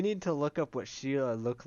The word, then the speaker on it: Sheila: Anyway, Shello? I think it's pronounced Sheila. Or, oh, Sheila. Yeah, Sheila Didn't see the I.